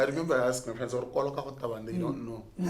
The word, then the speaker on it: Koloka: Gore le pronounce Koloka. It's Koloka.